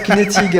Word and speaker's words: Knetig: Knetig. Alors, est-ce que j'ai bien prononcé ?